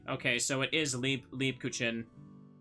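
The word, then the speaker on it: Lebkuchen: was wrong sorry okay so it is leap leap kuchin not uh Le Leb kuchin le le cin just going to say it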